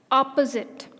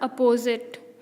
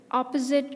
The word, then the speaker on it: opposite: monk and genre quote opposite not oppose it I actually I actually say this wrong many times its opposite opposite to my table biology